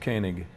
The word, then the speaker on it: Koenig: It's pronounced Koenig.